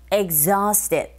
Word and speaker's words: exhausted: I've helped, but I'm so exhausted. 그런데 빨리 말하면, I've helped. But I'm so exhausted. 이렇게 발음할 수 있겠죠.